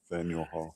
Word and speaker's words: Faneuil Hall: Public meetings at, how you pronounce that, Rich? Faneuil Hall? Yeah, Faneuil Hall.